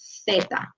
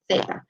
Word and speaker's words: zeta: specific to this letter, if you're in Spain, the accent is a little bit different, and they actually pronounce this one like a TH sound. So they call this letter zeta, okay, zeta. But all the other Spanish-speaking countries around the world pronounce it like S, so like zeta.